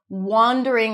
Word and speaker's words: wandering: So, distinguish that word wandering that is pronounced with the Oz and father. Wander around versus wonder. That's a cup sound spelled with O.